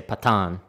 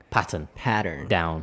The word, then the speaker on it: pattern: I noticed like a lot of my students, they always say patan because of the Japanese pronunciation. Like it goes up in the middle, patan, pattern, down, yeah, 確かに up and then down.